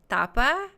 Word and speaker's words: Thapa: say your name tapa I think I think that th does the like thali and um I am